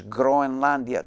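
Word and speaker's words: Grønland: then by the way the right way to say Greenland in Danish is groia that's italianized okay so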